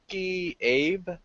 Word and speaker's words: Abe: It's directed by Noriyuki Abe. I'm not sure if I'm pronouncing that right or not. Abe, right, correct.